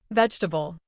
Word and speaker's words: vegetable: Vegetable.